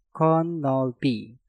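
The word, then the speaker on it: 겉넓이: Kot diakhiri dengan tiut, setelah itu diikuti kata yang diawali dengan nieun, maka tiutnya kalian rubah menjadi suara nieun. Dan cara pengucapan untuk kata ini menjadi konolpi, konolpi, konolpi.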